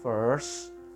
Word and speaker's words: first: Fir dulu baru S, first, lalu ditutup dengan t, gitu.